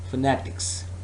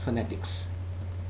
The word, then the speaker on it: phonetics: say again all right it is possible that some of the students pronounce this word as fanatics fanatics but its correct pronunciation is phonetics some of you may